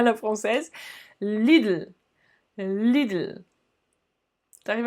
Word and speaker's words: Lidl: deutsche telekom deutsche telekom lille lille oui tu as bien entendu c'est pas lidl à la française lille leader tu arrives à